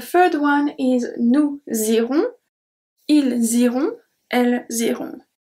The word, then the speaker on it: ils iront: Ils iront, elles iront. They are pronounced the same since we don't pronounce at the end the S ou the T. And then we have the links.